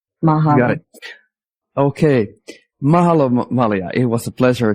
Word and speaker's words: Mahalo: Hawaiian is very phonetic. So if you know other languages like Tagalog or German or Spanish, you pronounce every letter, and you're using the sounds of the vowels that are more of the soft sounds of the vowels. A, E, I, O, U.